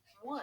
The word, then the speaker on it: would: Let's examine the word would, as in, my baby brother would not stop crying. Would rhymes with words you know, like could and should.